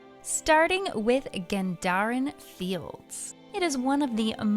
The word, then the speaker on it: Gendarran: There seems to be a lot of debate whether the beginning of the word should be gen or gen, followed by whether it's dar or dare, such as Gendarran Fields.